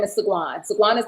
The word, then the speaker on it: SeGuan: SeGuan, but I pronounce it SeGuan. See, I ain't put the accent on that part. You know what I mean? I just put it on the last name.